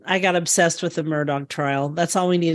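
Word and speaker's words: Murdaugh: this week because lawyer murdog actually um and that's how you pronounce his name according to everybody down in South Carolina murdog even though it's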